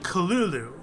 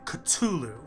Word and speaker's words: Cthulhu: But if they were to, it would be more like Kalulu, is what he would write. However, when he would verbally talk about it, he would pronounce it Cthulhu. So Lovecraft felt it was pronounced Cthulhu.